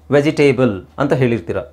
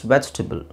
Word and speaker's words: vegetable: let's see next one this is very easy vegetable right which is quite a bit wrong wrong it's justable t t but that's not table there it's vegetable vegetable okay all right let's